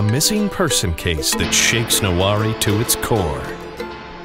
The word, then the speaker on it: Noware: Noware. Huh? We're not nowhere. We're somewhere, and that somewhere is Noware, Nebraska. Oh, okay. Noware? No. Say it like you have marbles in your mouth.